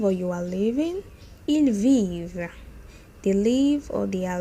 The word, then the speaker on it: vivent: Ils vivent, they live or they are living. Remember, don't pronounce the NT at the end.